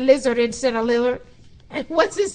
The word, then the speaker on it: Lillard: And the Kia Western Conference Rookie of the Month was Damian Lillard of Portland Trail Blazers, averaging 18 points per game. How did I say his name? Lizard.